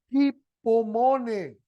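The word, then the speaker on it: ὑπομονή: paciencia Hi pomone Okay realmente se pronuncia hipone porque tiene una aspiración áspera ahí en el yilon Entonces hpom hpom trad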